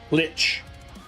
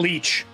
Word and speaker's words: lich: Lich. Not leech.